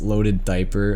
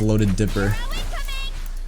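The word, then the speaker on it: Löded Diper: It's pronounced Loaded Diaper. Oh, is it diaper? Bro, I don't know. I haven't read Diary of a Wimpy Kid since I was a kid. I don't remember. I don't know why I thought it was Loaded Dipper.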